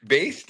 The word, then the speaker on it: Baest: So, based is it? Yeah, I think that's a very good pronunciation.